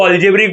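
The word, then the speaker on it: algebraic: ये याद रखना, एक्स रेस टू फाइव और फाइव रेस टू एक्स, इसको अल्जेब्रिक बोलते हैं। अल्जेब्रिक, अल्जेब्रिक, अल्जेब्रिक स्पेलिंग में देखा, अल्जेब्राइक लिखा है लेकिन अल्जेब्रिक बोलने का।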